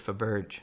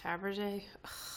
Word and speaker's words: Fabergé: my pacifier oh no he pronounces it for Burge oh man Garibaldi pronounces it for birth this kid he's pretty smart forever a baby I mean yeah but he doesn't even know how to pronounce Faberge yeah well so he